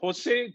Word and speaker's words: Jose: your name is it Jose Jose I'm I'm used to my name getting pronounced in multiple ways I'm okay um joose is what my parents intented uh you know I